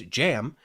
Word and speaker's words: Cem: you pronounce it is Jam not cam everybody says chem because it's cem but I believe you actually pronounce it like jam uh so yeah I